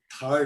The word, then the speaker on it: Thar: most fascinating about the Thar Desert, or the Thar Desert as I've learned it's pronounced.